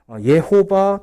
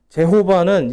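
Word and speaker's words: Jehovah: 그래서 거기서 보면 히브리어로 이제 가보면 예호바 또는 제호바라고 부를 수 있는데 정확한 명칭은 예호바예요. 제호바는 이제 영어식으로 와서 제호바고요. 정확한 히브리식 발음은 예호바가 더 가까운 발음입니다.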